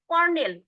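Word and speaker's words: colonel: আপনারা নিজেরাই ট্রাই করতে কর্নেল উচ্চারণটা কিন্তু দেখবেন কর্নেলের বানান কিন্তু কলোনেল সিও এ ঠিক আছে ও এল ও এনইল এটা কিন্তু নিবেন না করনেল দেখেন আপনারা নিজেরাও লিখেন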